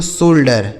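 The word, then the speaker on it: shoulder: शोल्डर। क्या पढ़ा जाएगा? एस एस से स हो गया। ओ यू का उच्चारण ओ की मात्रा एल से आधा ल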